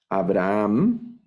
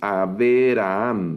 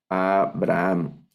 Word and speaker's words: Abraham: Eh, Aquí no leemos Averaham, ¿verdad? No vamos a leer Averaham, sino estamos leyendo únicamente Av y este Sheva, aunque